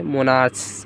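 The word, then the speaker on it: monarchs: लेकिन जब सी एच का उच्चारण को के समान हो तो उसका पुलर बनाने के लिए अंत में सिर्फ एस जोड़ते हैं। जैसे क्या होता है? मोनार्क में एस सिर्फ जोड़ देंगे, मोनार्क्स हो जाएगा।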